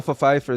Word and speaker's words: Pfeiffer: Michelle Pfeiffer, that's how you pronounce it.